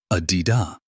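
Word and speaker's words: A Di Đà: Therefore, Buddha Amitabha, pronounced Adida in Vietnamese, is also one of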